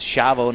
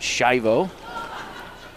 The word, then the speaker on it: Chavo: This is Chavo with it. And if Aunt Lisa's watching, I did remember it is Chavo, not Shivo.